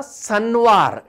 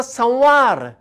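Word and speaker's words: Son'var: ताचे उपरांत येता सनवार एस ओ N apostrophe apostrophe V ए R. Apostrophe कित्याक? एपोस्ट्रॉफी जर आमी घाली ना तें जाता संवार, पूण आमी म्हणटा सनवार.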